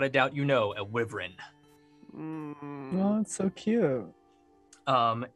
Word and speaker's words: wyvern: doubt you know a wyvern well that's so cute um and this explains a lot it's pronounced i've why run exactly i'm gonna be